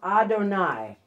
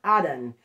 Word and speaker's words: Adon: It's pronounced Adonai. Okay, it's derived from the singular Adon.